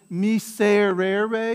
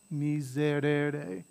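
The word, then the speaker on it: miserere: it between two vowels when you see it between two vowels it gets softened a little bit and sounds a lot like a z so like so instead of me say rare ray it's misered me zerede right instead of me certaine it's me zerede when you hear it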